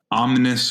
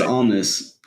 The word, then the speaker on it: Omnis: I think it's Omnis. I keep hearing people say Omni, but I'm like, well, there's an S at the end.